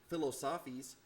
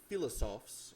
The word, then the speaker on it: philosophes: philosophos what's philosophes or as the kids in my class would say philosophies um that's a French word not philosophies that's mispronounced uh philosophes or philosoph same thing really uh are French philosophers